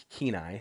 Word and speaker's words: Kenai: But my Kenai, Kenai is how you say Kenai.